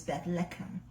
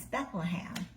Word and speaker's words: Bethlehem: Beth leum okay and how you say it in Hebrew is Beth leum which we know is Bethlehem bethle means House of